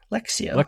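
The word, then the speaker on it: lectio: okay how do you say it again lexio lexio yeah yeah lexio I don't know why I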